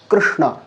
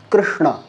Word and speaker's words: কৃষ্ণ: যদি শব্দ দেখি আমরা কৃষ্ণ কৃষ্ণ এটার উচ্চারণ এভাবে হওয়া উচিত অর্থাৎ যেটা আমরা কর্ম শব্দ উচ্চারণ করি কর্ম শব্দের ককে বাদ দিলে এবং শেষের দিকে ম কে বাদ দিলে যে মধ্যস্থানে উচ্চারিত হয় এটাই হচ্ছে এই বর্ণের